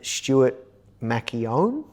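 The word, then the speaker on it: Stuart McKeown: And today we're interviewing my good friend Stuart Macchione. That's how you pronounce his name.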